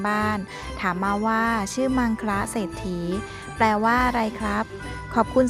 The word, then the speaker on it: มังคละเศรษฐี: ทอ ฐาน สระ อี ออก เสียง ว่า มัง คะ เศรษฐี ซึ่ง มา จาก คำ